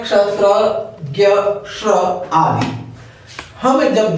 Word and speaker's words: ज्ञ: अगला है ज्ञ, इसका उच्चारण शुद्ध उच्चारण ज्ञ होता है, क्योंकि यह ज, ञ और अ से मिलकर बनता है, इसमें ग का प्रयोग नहीं होता है, ये ज्ञ है।